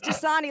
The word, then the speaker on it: Dosani: my last name is dasani like the water one time someone forgot